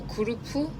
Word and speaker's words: Gurb: It says that Catalan pronunciation is more like a kurupu. Yeah, I think the sounds end the sound ends with P.